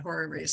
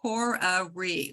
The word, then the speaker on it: horary: have to talk about horror race astrology it's really what was that it's called horary like like horoscope horoscope okay it's h-o-r-a-r-y and nobody pronounces it